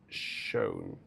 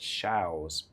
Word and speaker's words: Shows: It's pronounced show, as in you go to a musical show, but I've always heard it pronounced shows.